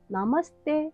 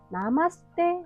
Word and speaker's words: नमस्ते: और आम शब्द है ‘नमस्ते’। तो अभी के लिए ‘नमस्ते’ को याद रखें। कई कोरियन लोग ‘नमस्ते’ को ‘नमासते’ बोलते हैं। लेकिन सही उच्चारण है ‘नमस्ते’।